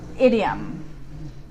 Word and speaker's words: idiom: Idiom. Idiom. So it's I, like a short I sound, idiom. And there's that schwa sound again. It's the idiom, idiom.